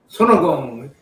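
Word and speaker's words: 손오공: Sonogong. That's how Korean pronounce it. Sonogong.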